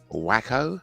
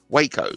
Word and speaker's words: Waco: the cult leader at the wacko I think I pronounced that Waco sorry to apologize at